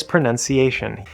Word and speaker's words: pronunciation: This is commonly mispronounced because the verb to pronounce has the diphthong ow in the middle. pronounce But the noun pronunciation, first of all, there's no o u in the spelling. It's just the letter u. But of course we know the spelling can't be trusted.